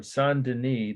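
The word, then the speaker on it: Saint-Denis: go uh this is church of sandini that's dennis like the french speller d-e-n-i-s only one and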